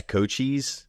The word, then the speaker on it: Cochise: So it's how do you pronounce that? Oh, Cochise? Yeah, Cochise.